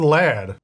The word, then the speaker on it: laird: It's the Scottish word for lord. So like owner of land. There is a way that I would pronounce that just by looking at the letters. But given the fact that you guys said I wouldn't say it right, let's Google this. Laird. The guy just said laird, which is how I would say it, but you guys said